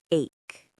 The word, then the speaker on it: ache: We often use the word ache. A C H E. It is pronounced like cake.